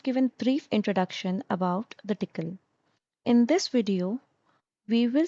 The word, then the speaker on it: Tcl: So, tickle is tool command language.